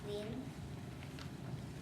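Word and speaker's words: 林: It is pronounced lin.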